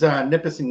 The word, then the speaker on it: Nipissing: So tell us about what is first off, how do you pronounce the university that it was at? It was Nipissing University. Nipissing, because I was going to say it a different way.